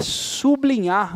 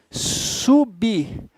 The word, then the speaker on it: sublinhar: É por isso que você não pode falar sublinhar. Não dá muita vontade de falar isso aqui, ó. Sublinhar. Tá errado. Por que tá errado? Porque o L e o I já formam uma sílaba, então o B não pode ficar com eles. Você tem que dizer o quê? Sublinhar.